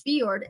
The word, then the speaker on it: fjord: physical description and history the Norwegian Fjord horse pronounced as fiord is one of the